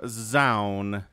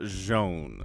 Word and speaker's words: Zoun: know tasteless calls them zoun but i have it on good authority it is joan so if you have more information than i do let me know in the comments and i'll correct my pronunciation but i'm going to call him jean okay okay so hmm